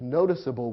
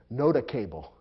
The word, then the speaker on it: noticeable: pronounced nota cable or nota couple and that would be wrong so the e makes it clear to the reader that the c or g is soft and ought to be pronounced that way and that's the technical